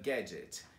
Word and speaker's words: gadget: Então, quando você vê o D e o G together, continua pronunciando como J. E daí só coloca o T no final. Então, budget, widget and gadget.